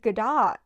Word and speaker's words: Godot: But from what I've heard, I believe Godot, that's how people don't pronounce the T.